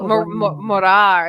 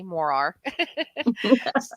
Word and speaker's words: Morar: Loch Ness and morah so morah is the way you're supposed to say it in Scottish and my Scottish friends probably still gonna say that I didn't say it right but American say Mor are so things so there's